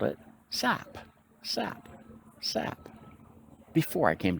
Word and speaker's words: SAP: on the first day it is called s-a-p yes it is not an acronym a pronounceable acronym it is an initialism its initialism now except that's when it's